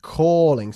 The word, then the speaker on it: calling: Calling se pronuncia. Calling es un sonido de vocal bastante alargado.